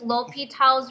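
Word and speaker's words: L'Hôpital: um so yes it is pronounced l'hopital's rule it is spelled like l'hospital's but we are going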